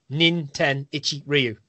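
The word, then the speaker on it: Niten Ichi-ryū: And if I'll just point that before we move, just say it's spelt, I'm not making this up, NITENICHIRYU. Nin Ten Ichi Ryu. That's how it's spelled.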